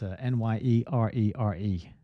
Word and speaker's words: Nyerere: That's Nyerere for anyone who's just listening on the audio. How would you pronounce that?